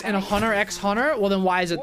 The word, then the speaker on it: Hunter x Hunter: they use normal you don't pronounce the X and A Hunter x Hunter well then why is